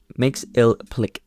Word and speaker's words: Mxyzptlk: Mxyzptlk. Yeah, I looked that up, by the way, that's how you pronounce it.